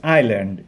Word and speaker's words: island: ah lake with an island the pronunciation is island is silent so you can get an very good